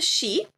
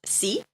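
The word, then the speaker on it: し: Yeah, this is a she. Okay. It's not C cuz C is kind of that that's Spanish. Okay. We don't learn Spanish. We learn Japanese.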